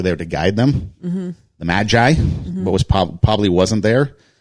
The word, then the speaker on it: magi: There were probably more than 3 kings, or actually wise men or magi. How do you pronounce it? Magi. Yeah, they were magi. Not magpie, not magis. Magis. Not the magis.